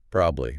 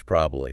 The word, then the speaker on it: probably: Native speakers, especially in more informal work chats, often reduce it. It becomes like a two-syllable word. Hmm. Probably, or sometimes probably.